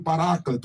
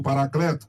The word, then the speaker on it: Paráclito: Ele é também chamado do Paráclito, ou Paracleto, como queira pronunciar.